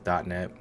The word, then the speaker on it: .NET: more source credible file so dotnet framework pronounced as dotnet is a software framework